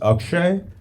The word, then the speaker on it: Akshay: I said my name's Akshay. It's pronounced Akshay, but don't worry about it.